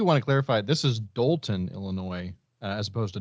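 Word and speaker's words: Dolton: for the listeners I'm I'm stressing the O instead of the a I thought you were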